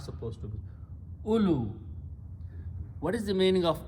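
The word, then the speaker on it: أولو: Vow is not pronounced, so we put a little circle, and only alif and lam and waw are pronounced. So don't pronounce oo, lu. The waw is not supposed to be. Ulu.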